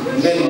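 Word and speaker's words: μένω: my word, the word abide in Greek is meno. Neno kukaa katika lugha ya Kigiriki ni meno. Meno, but it's meno. M-E-N-O. That's how you pronounce it.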